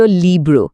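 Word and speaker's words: libro: এল এর পর আই আছে, যার মানে হল ই, লি, আর আর এর পর ও আছে, যার মানে ও, ব্রো। দুটো ব্লক একসাথে যোগ করলে হয় লিব্রো, লিব্রো।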